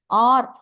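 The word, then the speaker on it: hour: இது நம்ம எப்படி ப்ரொனவுன்ஸ் ஆக்சுவலா எப்படி ப்ரொனவுன்ஸ் பண்ணா ஆர் அப்படின்னு தான் ப்ரொனவுன்ஸ் பண்ணோம். இங்க இந்த இடத்துல வந்து ஹெச் வந்து என்னது? சைலண்ட்.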